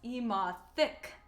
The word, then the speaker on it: Emothic: moving forward my name's amathik i'm a gotham youtuber i have really bright green hair i really like the color green but my name is pronounced eema thick emphasis on the thick um i go buy